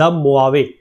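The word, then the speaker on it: Mojave: तो कंफ्यूज नहीं होंगे मुआवे ये जे लगभग इसका यहां पर साइलेंट है यहां पर अगर बात करें तो ए एच साइलेंट है तो इसका नाम इसको प्रोनाउंस करा जाता है मोवे डेजर्ट तो ये मोवे डेजर्ट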